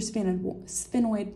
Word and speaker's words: sphenoid: This is your sphenoid bone, or sphenoid, however you like to pronounce it.